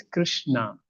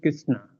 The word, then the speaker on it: Krishna: So see, it's Krishna. Krishna. It's not Krishna.